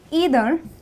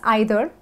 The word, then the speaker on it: either: so i tell you either well you can also pronounce this as either you decide so either or either